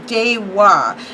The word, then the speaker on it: Deva: And let me make sure I'm right, because yes, Daehwa, which it looks like Daehwa, is pronounced Daehwa.